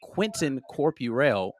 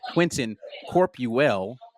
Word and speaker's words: Quentin Corpuel: in here with Quentin Corpuel. Oh my God, I just butchered your name. in here with Quentin Corpuel. Got it right that time.